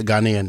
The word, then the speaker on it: Ghanaian: Did I say that right? Ghanaian? Yeah, Ghanaian. Yeah. Ghanaian. Said it right.